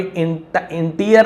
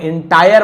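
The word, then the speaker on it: entire: अ बन जाता है यहां पर भी इंटीरियर नहीं बोल रहा हूं मैं एंटायर बोल रहा हूं अ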